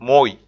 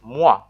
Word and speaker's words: moi: the name in regular letters pronunciations in French pronouncing is quite different compared to English for example a word like Moy my best bet is Kenyan speakers are wondering